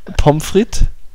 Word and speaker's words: Pommes frites: das selber gar nicht ja pomfrit ganz normal aber nicht so nicht so Pommes Fritz ne wird h gar nicht ausgesprochen nee nicht Pommes Fritz